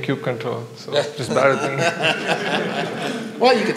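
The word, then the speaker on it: kubectl: flow will ideally look like this you do cube control a cute control and that's how you pronounce it cube control apply components and it will create it on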